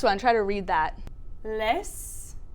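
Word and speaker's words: лес: Les. Yeah, that was pretty close. Les. Yeah, it's les.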